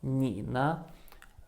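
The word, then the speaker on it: 你呢: have the combination of nina the first syllable knee is in the third tone and it means you the second one has no tone and it just turns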